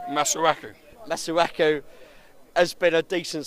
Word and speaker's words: Masuaku: Uh, Masuaka. Have I pronounced that right? Masuaku.